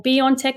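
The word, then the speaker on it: BioNTech: together co-founded the german company by on tech or beyond tech as they pronounced that partnered with the american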